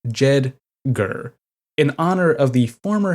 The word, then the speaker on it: JEDGAR: jeder a sixlet ISM pronounced as two syllables jeder in honor of the